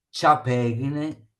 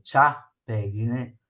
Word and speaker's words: ciapeghine: Parola bisdrucciola, prendetene in italiano, ciapeghine in veneto, ciapeghine, l'accento va sulla A, c'ha.